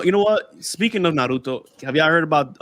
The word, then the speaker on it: Naruto: freaking naruto that's how you say it it's naruto yo i'm getting ambushed yo now i got